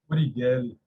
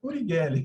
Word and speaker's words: Urigelli: Urigelli. Urigelli? Urigelli. Urigelli. Não precisa enrolar tanto a língua, porque Urigelli. Deixa sair.